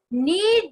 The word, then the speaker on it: knead: Next thing is knead the dough. Knead the dough. K is silent.